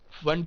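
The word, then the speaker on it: Pfund: फिर आएगी फंड series फंड का पी साइलेंट है तो ये साइंटिस्ट के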